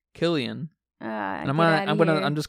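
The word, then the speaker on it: Cillian: our main character's performance how do you say his name selan cyan Murphy yeah they're British celan and and um Christopher Nolan uhhuh so they say Killian I'm I'm gonna I'm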